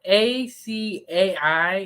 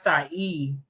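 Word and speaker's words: açaí: of asai now okay it's spelled a Ai and I always used to say aai but it's SI e have you guys ever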